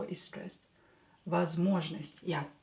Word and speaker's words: Возможность: Возможность. Yeah. Возможность. So this one is not stressed, this one is not stressed, so pronounce them as A.